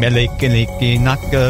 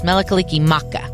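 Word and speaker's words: Mele Kalikimaka: And I totally butchered whatever Hawaiian phrase that was, I think. I think you were very close. Melikaliki Maka. Oh, thank you. With an M.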